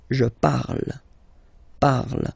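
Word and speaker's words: parle: So remember and after that you just put the ending uh and then the way to pronounce it is par. So remember we put it okay but then we don't really pronounce it.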